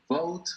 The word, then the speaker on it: vote: En palabras como esta hay que pronunciar bien la letra T, no la letra T, la letra V, porque hay que diferenciar. No puedo decir vote, porque si digo vote estoy diciendo bote.